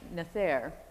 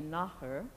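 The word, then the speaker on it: nathair: the Celtic language and they pronounce it on screen as nether as it would be in English well that is not at all right it should be naher and so it's totally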